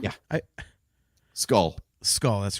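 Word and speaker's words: Skoll: sorry what's the last name yeah I skull skull that's right SK k o l l yeah that's right sorry mispronunciation there I apologize um yeah like make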